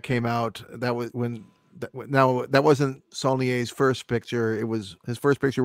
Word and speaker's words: Saulnier: And actually, I don't know if it's pronounced that way or not. It's Saulnier.